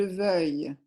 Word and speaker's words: veuille: L'autre prononciation un peu difficile, c'est pour vouloir, que je veuille.